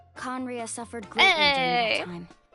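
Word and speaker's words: Khaenri'ah: It's been so long since I've done the quest with Danley that I forgot how it's pronounced. That's right, Conria. Conria suffered greatly during that time.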